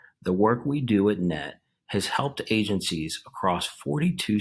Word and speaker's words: KNET: lead forensic specialist for kn-e-t pronounced net thank you for joining